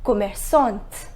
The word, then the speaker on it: commerçante: I simply added E in order to make it feminine and the pronunciation became commerçante.